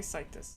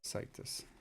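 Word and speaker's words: CITES: How is this pronounced in in English? Situs. Sites. I would say situs. Situs.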